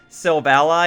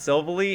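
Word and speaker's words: Silvally: selbst ally and not so bully and if you guys think I'm making that up watch the Pokemon anime its selves ally because it's supposed to be your ally your buddy Pokemon it evolves from type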